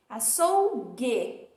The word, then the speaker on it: açougue: não para não viu porque eu não digo a sou burro e eu digo a thorough então o u não é pronunciado na palavra açougue lembrando que nós estamos